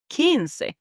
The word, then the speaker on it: quince: And then we have 15, which is quince.